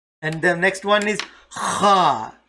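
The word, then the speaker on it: خ: Okay, and the next one is Kha. as if you are about to roar, as if a lion is roaring.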